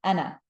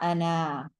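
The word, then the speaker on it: أنا: But we do not pronounce the alif, all right? It's just a silent letter, kind of like how in English we have silent letters. We say knife, not knife, even though we have a K there. Same thing here. We say ana, short noon, not ana, okay?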